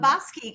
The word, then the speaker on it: Bobosky: Baba, is that how you pronounce that? Um, Bobosky, correct?